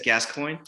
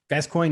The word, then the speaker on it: Gascoigne: So I think like the Father Gascoigne, or however we pronounce it. I think it's Gascoigne. Gascoigne, you're right.